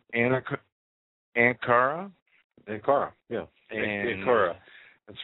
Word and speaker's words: Ankara: airports in, let me see if I can pronounce this right, Ankara? Ankara, yeah. Ankara.